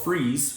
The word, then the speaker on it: Fries: in a town called Freeze Virginia it's spelled fries but it's pronounced freeze well it's freeze in